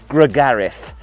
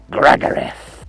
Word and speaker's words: Gragareth: It sounds like something from Lord of the Rings, Gragareth. We must return to Gragareth. I think posh people, sort of from down south and things like that, call it Gregarith.